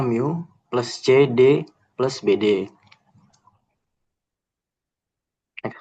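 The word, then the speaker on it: μ: Nah, kemudian kita membuat model tentatifnya itu Y sama dengan, ini dibacanya mu, plus CD plus BD.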